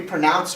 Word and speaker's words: pronounce: How do we say pronounce? Pronounce. Pronounce, right? It's two syllables and we stress the second syllable.